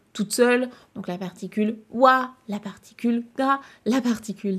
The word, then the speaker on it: は: Donc la particule qui s'écrit ha, mais qui se prononce bien wa.